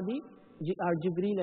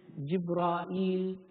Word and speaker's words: Jibreel: The Arabs used to say Jibreel, Jibra'il, Mikal, Mika'il, and so on.